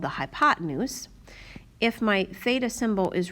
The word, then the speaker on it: theta: is a greek letter of the alphabet it's pronounced theta and we put that theta symbol in one of our two acute angles